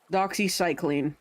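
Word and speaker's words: doxycycline: I didn't recognize the cam itself or what it is, but Doxy Cycling is how it's pronounced for anyone curious.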